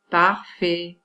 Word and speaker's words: parfait: La graphie AI correspond au phonème E. Par exemple, parfait. On ne dit pas parfait, parfait.